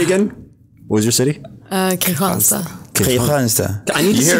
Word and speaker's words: Kristianstad: But it's spelled Kristianstad. Oh, it's spelled Kristianstad. Yeah. K'Hansa. But it's pronounced K'Hansa.